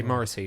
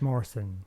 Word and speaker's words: Morrison: him now well I always say his last name wrong so you do say morisy not Morrison it's Morrison like the shop This Charming Man um okay